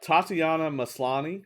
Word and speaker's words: Tatiana Maslany: was interesting um uh tatiana maslany i think is the pronunciation is gonna play jennifer